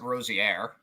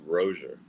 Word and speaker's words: Rosier: Is the R silent, or is it Rosier, or is it Rosier? So it's actually pronounced Rosier.